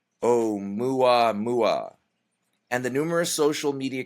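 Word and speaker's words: ʻOumuamua: able to pronounce this o u m UA M UA oh mua mua and the numerous social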